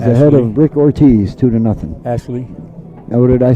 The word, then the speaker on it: Ashli: That's why I said Ash Hill. And the only reason I knew you was pronouncing it wrong because I heard him, Rick Ortiz and Ashley.